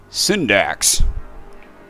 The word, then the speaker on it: Syndax: Syndax. Rhymes with syntax.